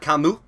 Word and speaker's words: Camus: okay then we have let me try and do the French pronunciation we have Albert Camus so this is basically